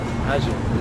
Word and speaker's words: Hajar: Hajar is how you say it in Arabic.